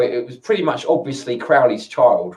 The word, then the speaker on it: Crowley: me interested in Crowley Crowley supposed to be pronounced Crowley rather than Crowley most people pronounce it Crowley but it's supposed to be pronounced Crowley anyway yeah so Robert Anton Wilson really interesting